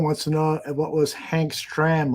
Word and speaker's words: Hank Stram: to know what was Hank's tram like look I pronounced it correctly Hank stram well sender would have said Hank Schram Hank was uh wow